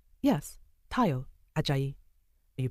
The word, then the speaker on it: Tayo: was more golden than brown my name is Tao t a if you like yes Tao aay you pronounce it well he smiled liking the fact